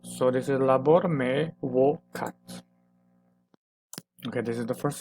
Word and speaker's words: vocat: And as we can see, we need to pronounce this as wo. So this is labor me vocat.